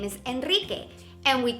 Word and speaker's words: Enrique: another example to help you remember both sounds Enrique Enrique is a very common name in most of Latin America and Spain and check us out we have a special nickname for people whose name is Enrique and we call them Pete cake DK see